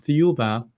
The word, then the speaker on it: Thiaoouba: And they start a journey to the planet Thiaoouba, which is also pronounced as Jehovah in French, Mm, is similar to the pronunciation of Jehovah, which does have a connection to the planet, the people on the planet.